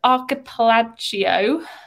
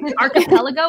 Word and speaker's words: archipelago: islands yeah i can never say the word archipelagio i can't say it i don't think it's malaysian you did better than i would archipelago is that how you say it yeah there you